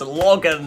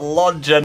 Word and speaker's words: Logan: I think I actually raided a couple of people which thought my name were pronounced Lodgen, but it's pronounced Logan, not Lodgen.